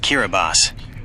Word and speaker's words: Kiribati: Kiribati, pronounced Kiraabas.